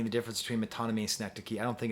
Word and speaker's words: synecdoche: have the question of synecdoche which is spelled s-y-n-e-c-d-o-c-h-e you might have called it cynic doke that's what i called it up until my third year of grad school don't feel bad seneca